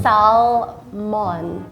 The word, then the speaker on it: salmon: salmon. Right. Yeah, get rid of the L.